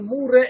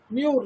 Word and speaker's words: Murray: Murray and Lippi. There you see, Murray. Somebody will pronounce Muir, not Muir. This is Murray.